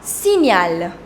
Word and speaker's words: signal: Un signal. Un signal. The combination GN, the sound is near.